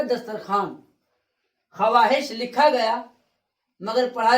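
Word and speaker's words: دسترخوان: दस्तर खवान लिखा गया मगर पढ़ा जाएगा दस्तरखान।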